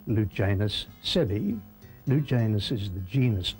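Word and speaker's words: sebae: But the great thing is that both of them are known by the scientific name Lugenus sebi. Lugenus is the genus name, spelled with a capital, and sebi, S-E-B-A-E, is the species name, and that really nails it down.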